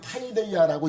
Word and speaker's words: παιδεία: 헬라어로는 이렇게 쓰는데 이거를 파이데이아라고 읽는데 이것을 번역을 징계라고 한 거예요.